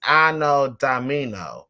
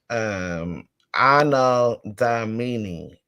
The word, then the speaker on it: Anno Domini: Yeah, AD is Anno Domino. Anno Domino, I believe. I know I'm trying to pronounce it right with these pronunciations. It's crazy. Anno Domini.